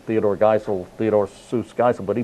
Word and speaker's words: Seuss: Seuss, but that was actually his middle name, Theodore Seuss Geisel, but he pronounced it differently.